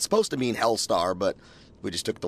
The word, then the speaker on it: Helstar: What is it right pronounce? Helstar. Helstar. Yeah, because you're writing your name with one L.